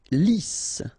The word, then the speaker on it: lisse: Lisse, double S here, so it's really a strong S. Lisse. Okay, don't insist on the final E.